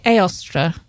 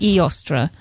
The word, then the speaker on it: Aostra: the E Mage yeah I I tend to say aostra um rather than e ostra um so aostra um with the stress on the last syllable yeah aostra um as